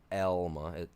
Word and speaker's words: Alma: We used to they used to send them all the way to a little town called Elma, A-L-M-A, not Elma or Alma. It's Elma. That's how it's pronounced.